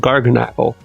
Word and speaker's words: Garganacl: Now we've got Knackley, Knacklistack, and Garganacl. And I believe this has to be pronounced Knackley, because this is clearly Garganacl, like Tabernacle.